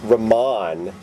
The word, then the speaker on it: Ramon: Because you can say Ramon. But... Does he really pronounce it Ramon? Yeah.